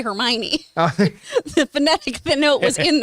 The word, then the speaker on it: Hermione: At least, when I read Harry Potter, they told me how to say Hermione. The phonetic note was in there. Hermione.